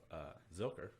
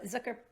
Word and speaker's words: Zilker: So Zucker Park. Zucker Park. Zucker. Zucker Park. I know I'm saying it wrong. Just throw that out there now. Watch out for the grammar police. It's the big park in the middle of Austin. Zilker. There you go. Zilker.